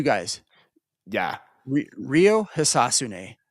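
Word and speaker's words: Hisatsune: Rio Hisasune. Histune. Hisasune. Is it Hisasune? Yep. That's how they say it.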